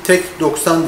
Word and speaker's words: Tech90: arkadaş tek tek yoksan değil tech90 diye okunuyor bir istedim demiş Teşekkürler